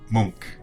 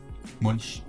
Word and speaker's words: Munch: We're saying it too German then. Munch. Yeah, monk. Yeah. Monk. Monk. Okay. At least here in Norway.